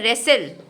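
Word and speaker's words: wrestle: उसके बाद है रेसल। नया शब्द मिलेगा रेसल। डब्ल्यू आर ई एस टी एल ई ठीक है कुश्ती लड़ना इसमें हम बोलते हैं इसका अर्थ है कुश्ती लड़ना और जो व्यक्ति कुश्ती लड़ता है उसको हम बोलते हैं रेसलर क्या बोलते हैं रेसलर हां तो देखिए दोनों में आर साइलेंट है इसके बाद है रिगल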